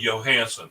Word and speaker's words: Johannsen: My last name is pronounced with a Y, Johannsen.